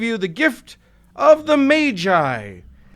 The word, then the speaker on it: Magi: Today I give you the gift of the Magi. And yes, I said Magi. I want to say Magi, but literally every dictionary and pronunciation guide I could find says that it's Magi.